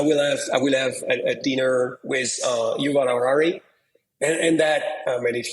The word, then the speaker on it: Yuval Harari: How do you pronounce Yuval Harari. Yuval Harari.